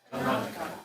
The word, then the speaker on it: канадка: Why do I pronounce канадка? What do you hear that канадка? because the K is non-vocalized, Exactly. and it's after the D. Right. So the D pronounce voiceless, right? T.